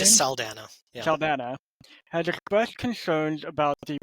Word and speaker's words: Saldana: Avatar and Guardians of the Galaxy star Zoe Saldana, I think that's how you pronounce her It's name? just Saldana. Yeah. Saldana, has expressed concerns about the prolonged delay of